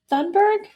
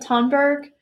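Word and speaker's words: Thunberg: like Greta Greta and I'm gonna say Sundberg I don't think that's right I've also heard Tom Berg which sounds like it's probably more correct I I'm sorry I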